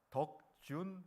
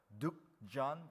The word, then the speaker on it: 덕준: 왜냐하면 제 이름을 이제 미국 사람들이 부를 때 스펠링을 잘 이제 발음을 잘 못하니까 덕준 해야 되는데 득존 이렇게 발음하거든요.